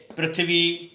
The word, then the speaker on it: पृथ्वी: और इस मात्रा का जो उच्चारण है वो री की तरह होता है, जैसे पृथ्वी, हृदय, ग्रह, ऐसे शब्दों में इसका प्रयोग किया जाता है।